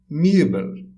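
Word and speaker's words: Möbel: Mirbel, e se escreve M-O-B-E-L, Mobel, a pronúncia Mirbel.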